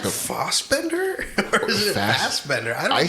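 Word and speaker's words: Fassbender: it was fast Bender I think Americans pronounce it fat but I think I've heard him say fos but Michael fos yes hey please don't kill us it's more Posh that way Posh yes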